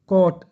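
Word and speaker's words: caught: Catch, कॉट, टी से पहले जी H silent, मैंने बताया था।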